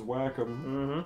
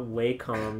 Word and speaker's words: Wacom: Fun fact, guys, that actually is what their friggin' name is pronounced as whack 'em. Mm-hmm. Funny. You call their friggin' customer support, that's how they pronounce it. It's not Wacom, you filth.